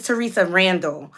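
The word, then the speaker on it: Theresa Randall: you who don't excuse me I said her name wrong her name is Teresa Randall for those of you who do not know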